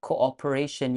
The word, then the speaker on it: cooperation: kind cooperation and cooperation you can apply speech fluency technique there cooperation with a W glide to make it sound smoother to the ears country coordinator for